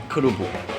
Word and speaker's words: kerupuk: Kerupuk. 와, 잘한데. Is that right pronunciation?